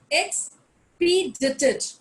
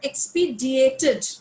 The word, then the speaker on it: expedited: So, I will say either expedited or expediated.